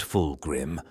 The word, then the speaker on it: Fulgrim: of the darkness to reach the light fulgrim pronounced fulgrim also known in the time before the Horus